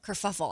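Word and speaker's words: kerfuffle: of a a cur how do you say that word? Kuruffle. Kurfuffle. I love that. I could even say it, but kurfuffle because it is a little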